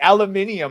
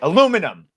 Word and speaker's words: aluminium: Aluminium. I know how you Brits say it. Aluminum.